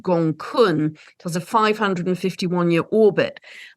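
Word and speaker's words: Gonggong: But the dragon energy is coming in very strongly because there's a dwarf planet it's spelt Gong Gong, but it's actually pronounced Gong Kun.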